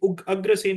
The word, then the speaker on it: Agrasen: Agrasen या Ugrasen, I think Agrasen is the correct pronunciation.